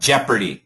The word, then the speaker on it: Jeopardy: So, it's a it's actually an e sound. Jeopardy.